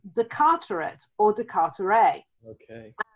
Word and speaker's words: Carteret: in the state is a place called Carteret or cut array I think it's pronounced and that's probably because